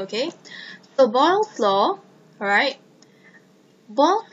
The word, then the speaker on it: Boyle: Boyle's law actually sounds like the word boil.